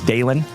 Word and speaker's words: Dalen: If it is your very first time tuning in to this ugly mug, my name is Dalen. D-A-L-E-N, like Dale plus N.